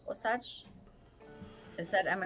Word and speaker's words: Osage: Warren is saying he's Osage. Osage? Is that am I It's pronouncing it right? Osage or Osage.